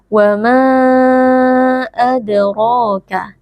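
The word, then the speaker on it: وما أدراك: Wa ma adraka. Adra, huruf dal sukun, posisinya ada di tengah-tengah kata. Ini merupakan bacaan qalqalah sughra. Cara membacanya huruf dal sukunnya kita pantulkan sedikit suaranya.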